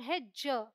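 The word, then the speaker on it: hedge: Rule क्या है, डी is silent before जी। मतलब जी से पहले डी आएगा तो साइलेंट होगा। या फिर आप ऐसे भी समझ सकते हैं कि डी जी ई है तो उसका साउंड है ज। ऑल राइट, डी नहीं बोलेंगे। तो ये है बैज, हेज, वेज, एज।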